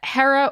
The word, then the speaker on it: Hera: we go so yeah hera or it could also be pronounced here or both are correct she is the goddess